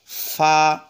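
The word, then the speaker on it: ف: চাপ দিয়েন এরপর আসুন ফা ফা ফা ফা উপরের দাগটা নিচের ঠটের সাথে লাগাবো এভাবে ফা ফা এবার আসুন কফ কফটা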